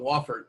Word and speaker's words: Wofford: happy about it yeah I said it wrong Wofford my apologies I wasn't gonna correct you who